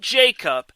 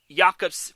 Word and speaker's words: Jakob: His first name is pronounced Jakob. Jakob Silverberg. Not Jacob, Jakob. If I see anyone pronouncing Jakob's first name Jacob, I'm going to say that is not how it's pronounced.